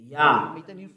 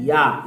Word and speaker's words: Yah: How to pronounce it? Yah. According to the Hebrew, when you see this word, it is read Yah in Hebrew.